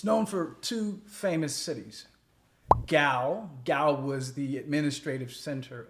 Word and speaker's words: Gao: the city of gal gal is spelled GAO and gal was actually